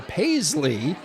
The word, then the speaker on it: Payzli: Now we have the pleasure of being joined by Zack Pushy, sales partner for Paisley, which is a fun play on words.